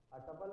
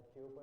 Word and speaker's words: tuple: टपल pronounce टूपल, ठीक है, टूपल भी होता है, टपल भी कहा जाता है, टूपल भी कहा जाता है, ट्यूपल भी कहा जाता है,